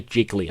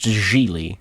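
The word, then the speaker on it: Gigli: pronounce it because I always want to say jiggly and I don't think that's how it's pronounced jiggly yeah hold up editing Josh here it's pronounced Julie so they're both wrong and that sets a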